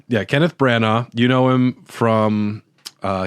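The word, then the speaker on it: Branagh: Brana. Kenneth Brana.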